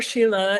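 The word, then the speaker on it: Schiele: the favorite painter Egon Shield is that how do you say his name am I saying it wrong I think she'll or Sheila it depends okay are you talking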